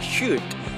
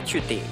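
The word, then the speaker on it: chute: mp3 dan shoot bacanya meskipun tulisannya CH UT bacanya ada shoot bukan cuti tetapi Shut MSI shoot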